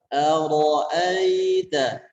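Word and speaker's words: أَرَأَيْتَ: Akan tetapi ketika fathahnya itu dibaca a sempurna, maka dibacanya tipis. A-nya tipis, kemudian ro-nya tebal. Ara'aita. Kemudian pada kata aita, kesalahan yang umum biasanya adalah mengayunnya kepada bunyi e. Ara'aita, aita. Maka di sini kurang tepat.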